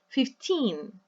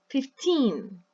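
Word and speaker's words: fifteen: And in this case, we say 15, 15. Yes, the stress is on the second syllable.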